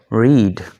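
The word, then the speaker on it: read: तो रीड first form है, रेड, रेड, ये इसकी सेकंड और थर्ड फॉर्म है। स्पेलिंग वही है लेकिन तलफ़ुज़ चेंज हो रहा है।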